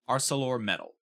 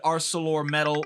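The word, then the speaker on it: ArcelorMittal: l o r m i TT a l arcelor metal that's how I'm going to pronounce it they reached an agreement with the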